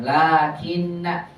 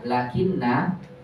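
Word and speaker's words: لٰكِنَّ: Bagus, la-nya wajib dipanjangkan. Lakinna. Jangan dibaca lakinna khata. La-nya dibaca panjang walaupun tidak ada alif.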